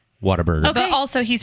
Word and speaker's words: Whataburger: word what Whataburger its water burger it's what a burger the word what it is but is pronounced water burger but also he's like